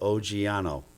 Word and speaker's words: Oggiano: It's, if you know Italian, oggi means today, and then it's O-N-O, so Oggiano.